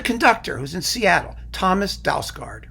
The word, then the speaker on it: Dausgaard: The conductor who's in Seattle, Thomas Dausgaard, right? That's his name. Well, I put it in a Danish pronunciation thing, and it's apparently Dausgaard.